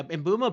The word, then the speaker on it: Mbeumo: Um, yeah, Embumo pronounced it this way. I used to pronounce it a different way and he I watched him pronounce it to learn how to do it.